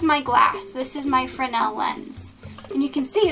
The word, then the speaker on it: Fresnel: you find in lighthouses it's called a fresnel lens or a fresnel lens i'm sorry the s is silent so here you have